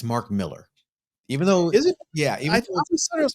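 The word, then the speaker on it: Mark Millar: the comments I'm gonna protect Richard here it's Mark Miller even though yeah it was pronounced marar uh you guys in the comments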